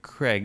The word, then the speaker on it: Craig: Because she said, I always get confused why Americans pronounce it Craig, like C-R-E-G.